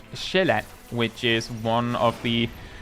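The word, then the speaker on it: Sjælland: Tristan, Zealand is the English pronunciation of Shelat, which is one of the three, one of the, well, it's not three, there's also Lolland, I guess.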